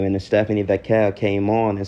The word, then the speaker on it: Vacquer: So she was giving her sister shit about the name, and then Stephanie Vacquer came on and said, it's pronounced Vacquer.